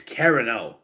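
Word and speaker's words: Carrano: wrong by the way the last word is not carano it's carano read the book watch the tv show for god's sake it's carano not carano god earth every time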